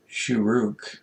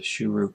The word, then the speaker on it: shuruk: On the left-hand side of the Vav, you put a little dot, and that's the shuruk vowel. The shuruk vowel has the U sound, as in the English word blue, U.